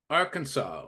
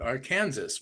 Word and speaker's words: Arkansas: emails Thomas is here Arkansas or is I jokingly call it AR Kansas which is incorrect for any of those foreign people trying to pronounce that is not our Kansas it's Arkansas Toronto Ontario Oh Brenda you're